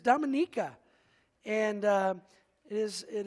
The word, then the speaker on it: Dominica: say it this week it's not Dominica as we were saying before we left left it is Dominica and uh it is